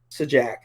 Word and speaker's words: Sajak: by none other than pat sajak which rhymes with hijack does anna kendrick think